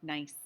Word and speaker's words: gneiss: It looks like gneiss, but it's not. It's pronounced nice.